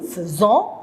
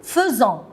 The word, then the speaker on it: faisons: Nous faisons. Regardez les enfants, faites attention. F-A-I, je prononce feu. On ne dit pas nous faisons, nous faisons.